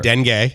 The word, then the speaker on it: dengue: first then gay fever Dengue no you said it correct I said it right